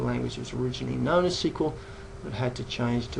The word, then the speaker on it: SQL: out by telling us the correct pronunciation for SQL which is that SQL as in the acronym structured query language however you're sometimes you're hearing North Americans refer to the language as SQL and that is for